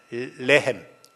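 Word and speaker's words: לחם: 이 베들레헴이란 말은 이제 히브리어로 베이트하고 레헴이라는 말인데, 이 합쳐진 말인데, 베이트란 말은 집이고 레헴 발음을 잘해야 되는데 L 발음으로 나와야 떡이 되지 R 발음으로 나와버리면 여자의 자궁을 가르친다고 합니다.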